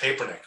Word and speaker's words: Papernick: I mean, literally, I was in New York in the summer and I said, my name's pronounced Papernick. When you introduce me, it's got to be Papernick.